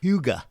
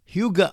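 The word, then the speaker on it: hygge: D's truly value Leisure the Danish concept of Huga which is spelled h YG G is about enjoying the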